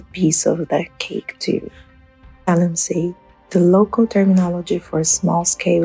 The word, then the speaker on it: galamsey: Galamsey, the local terminology for small-scale illegal mining activities in Ghana. The term evolved from gather and sell. The locals could not pronounce it well, hence Galamsey.